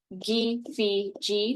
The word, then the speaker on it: KFC: And then last but not least, we have G, Phi, G. That's how we over here at the Mvskoke language program say KFC.